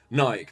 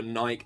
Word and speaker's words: Nike: conservatives like burning their Nike shoes. And I know you Americans call it Nike and that's the proper pronunciation, but in the UK nearly everyone calls it Nike.